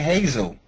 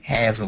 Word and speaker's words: Hazel: Miguel Mo a Hazel oh was it Hazel I just I I said I pronounced this the short a Hazel no it's Hazel okay yes all right